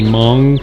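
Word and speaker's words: Hmong: no IDE idea so can you say mong chicken Hong chicken so the H I think is silent so why is this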